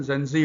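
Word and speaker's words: Gen Z: Generation जेड, pronunciation जेंजी होता है।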